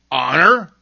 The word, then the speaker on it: honor: Other words that begin with silent H are honor, air, and honest.